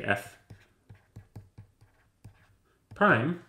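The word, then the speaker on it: f′: is called F Prime this is how you pronounce it you say F prime given by the formula F prime of X is equal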